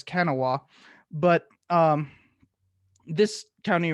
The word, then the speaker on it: Kanawha: They had successfully built a union up in I'm told it's pronounced Kanawha, but I've always read it as Kanawha.